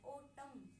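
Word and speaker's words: autumn: एन को silent रखते हैं तो एक फ्लो बन जाता है। ऑटम ऑटम आपको पता ही होगा ऑटम क्या होता है?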